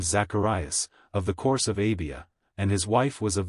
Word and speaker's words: Abia: course the course of ABIA was the eighth in the Old Testament it is called abijah but it would be pronounced as it is spelled here in Luke Zacharias then belonged to